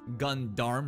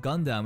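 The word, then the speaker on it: Gund-Arm: the new company of gundarm right it's not Gundam it's gundarm because I guess if we just say it like that it's not as taboo even though everyone pretty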